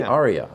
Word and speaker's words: Ariya: And then the Nissan Ariya, I'm not sure how to pronounce Ariya. it. The Ariya, okay.